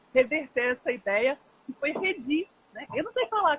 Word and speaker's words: Redi: Mas a sílaba forte é a primeira, ela disse.